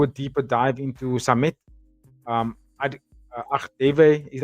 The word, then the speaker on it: Agdeve: I'm going to do a deeper dive into Samet Agdeve. I think that's how you say his name, Agdeve. Samet Agdeve.